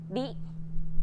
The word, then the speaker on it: り: This character isn't pronounced using an English R sound at all. うり It's like a mixture between an R and an L sound. り There's no such sound